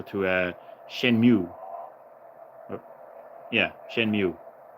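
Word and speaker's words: Shenmue: uh Shen mu yeah Shen mu is how it's pronounced Shen mu the Dreamcast game also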